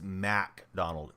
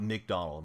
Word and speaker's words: MacDonald: So listen, Jay, it's Mac Donald. M-A-C is how his name is spelled, not McDonald.